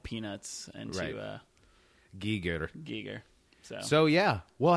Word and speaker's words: Giger: black star documentary I found out his real pronunciation was Giger yeah isn't that annoying I hate that I'm calling him gerer I don't know that's